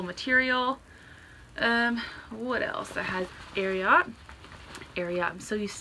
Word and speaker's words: Ariat: It's pronounced Ariat because I read the bio and they named the company after a secretariat. So like Secretariat, Ariat.